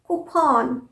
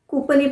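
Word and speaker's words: coupon: हम बोलते हैं कूपन कूपन हम कूपन बोलते अरे मुझे तो कूपन कूपन मिला है कपन नहीं कपन सही प्रोनंसिएशन है कपन और कुछ और प्रोनंसिएशन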